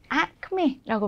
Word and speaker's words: acme: 얘 발음이요. acme라고 발음합니다.